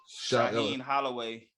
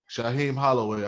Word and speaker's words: Shaheen Holloway: How you pronounce his name? Shaheen Holloway. Shaheen Holloway.